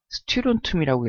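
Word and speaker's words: 스트론튬: 자, SR은요, 스티론툼이라고 읽어요.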